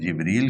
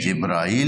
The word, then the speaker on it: جبریل: برابر کیا جاتا ہے، لیکن قرآن میں اس کے تلفظ مختلف ہیں۔ یہاں جبرائیل نہیں ہے، ہاں جیسے ہمارے ہاں